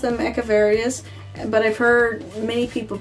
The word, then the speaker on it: Echeveria: And they're actually named after a Mexican botanist artist, Echeveria, or Echeveria, or Echeveria, whichever way you prefer to pronounce them. I've always pronounced them Echeverias, but I've heard many people pronounce them as Echeverias.